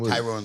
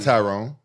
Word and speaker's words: Tyron: willly tyr Le tyon Tyrone Le it's not Tyrone Tyrone it's Tyron let me call on